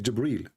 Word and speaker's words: Jibril: here he arrived gabriel it's not gabriel by the way it's jibril even muhammad he got